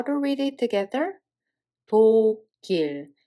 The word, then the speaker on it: 독일: 도길. Because this Batchim carries over to the following syllable. So this 그 sound Batchim is transferred to the second one. One more time, we read it as 도길.